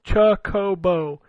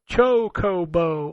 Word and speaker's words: chocobo: y'all all of you pronounce chocobo as chuckobo you all put emphasis on the cha it's chocobo all syllables rhyme with bo as in bow that's all goku do